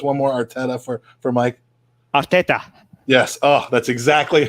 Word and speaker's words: Arteta: Arteta.